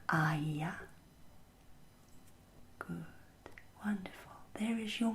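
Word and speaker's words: Aiya: Good, do you see how these two vowel sounds, the R and the E, elide together to turn into what we call a diphthong? Yes, that's another important characterization of Quenya pronunciation.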